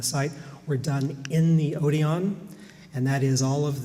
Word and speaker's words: Odeon: seminary on the site were done in the Odeon and that is all of the programs and brochures and flyers that I could find always listed the Odeon as the or I should say Odeon because that's how it was given in the